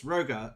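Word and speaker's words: Hrogar: Yes, Rogar. It's Rogar's auction house, but with an H at the start. It's a silent H because of course it is.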